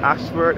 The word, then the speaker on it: Ayshford: So again, this is the Holy Innocence Anglican Episcopal Church, which is situated at Ashford in St. Thomas. Ashford is spelled A-Y-S-H-F-O-R-D.